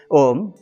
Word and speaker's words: ओम्: ओम आदि सत्ता वेद पुरुष भगवान को कोटि कोटि प्रणाम आप सबको सादर नमस्कार आदि ध्वनि ओम का उच्चारण ओम ही होने के कुछ पॉइंट्स बताता हूं